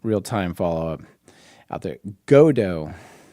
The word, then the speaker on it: Godot: Oh, and also just um real time followup out there, Godo. It's apparently the pronunciation. It's French.